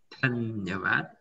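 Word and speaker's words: धन्यवाद: Oke, ini dibacanya Dhanyawad. Dhanyawad itu apa?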